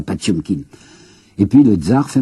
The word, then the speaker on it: Potemkin: Nous prononçons Potemkin, un cuirassé Potemkin. Paraît-il qu'il faut prononcer ça, Patchumkin.